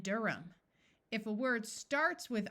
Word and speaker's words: Durham: the H sound disappears there are some names where the H is silent John and Durham if a word starts